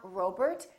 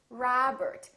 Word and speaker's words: Robert: Make sure that you don't say O. It's not Robert, it's Robert. It's not McDonald, it's McDonald.